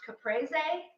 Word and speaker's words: caprese: our language or Italian my husband's Italian so he would want me to say it's pronounced caprese so that's what we're